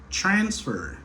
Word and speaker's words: transfer: Moi, accentué plutôt sous première syllabe là.